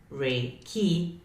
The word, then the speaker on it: Reiki: The word Reiki, pronounced Reiki, is a Japanese word.